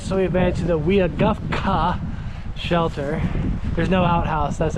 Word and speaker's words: Weogufka: Jayden, how do you say this? Weogufka. Weogufka. Yeah, I was saying it way wrong.